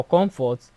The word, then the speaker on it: comfort: Now comfort, the stress is on the first syllable.